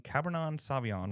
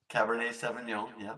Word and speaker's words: Cabernet Sauvignon: tonight I'm drinking a 2018 cabernon Sauvignon right is that how you say it I'm saying it wrong and I Cabernet Cabernet Cabernet Sauvignon thank you very much uh